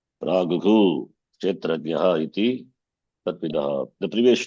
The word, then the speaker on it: प्राहुः: एतद्यो वेत्ति तं प्राहुः क्षेत्रज्ञ इति तद्विदः Praguhu visarga must be pronounced. Sharpare kar. Visargasya visargadesha bhavati eva. You should never say prahuk kshetrajna. That's wrong. Praguhu kshetrajna iti tadvidah.